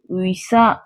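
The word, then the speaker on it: 의사: 11 உயி உயி உயி உயசா உயிசா உயிசா அப்படின்னா மருத்துவர் doctor doctor அவங்கள எப்படி சொல்லுவாங்கன்னா கொரியால உயசா உயிசா அப்படின்னு சொல்லுவாங்க ஓகே நம்ம இப்போ கம்பைன்ட் வவல்ஸ் 11 அப்படி என்னென்ன அப்படிங்கறதையும் அதை எப்படி உச்சரிக்கணும் அப்படிங்கறதையும் எக்ஸாம்பிள்ஸையும் பார்த்துட்டோம்.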